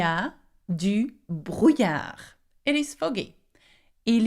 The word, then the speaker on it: brouillard: Now, to finish, il y a du brouillard. It is foggy. Il y a du brouillard. D'accord? Now that word, brouillard, is quite hard to say. Can you say brouillard? Yeah, with a r sound.